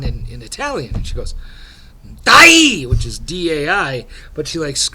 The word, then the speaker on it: dai: And she goes, Dai, which is D-A-I.